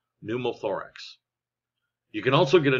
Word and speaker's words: pneumothorax: the chest cavity is called pneumothorax on the p is silent pneumothorax you can also get